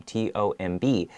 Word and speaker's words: tomb: take this word tomb t-o-m-b so first read the singular form so there's an m right we end it with an m sound so your lips have to touch together tomb and then at the